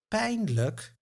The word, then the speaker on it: pijnlijk: Now in the word pain look painful, we find both the a and the h sound.